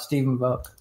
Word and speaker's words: Stephen Volk: We're here with the wonderful Stephen Volk, and I will let Kit tell you about Stephen Volk.